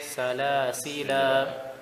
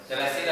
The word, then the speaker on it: سلاسل: سلاسل. Good. You continue. سلاسل وأغلال.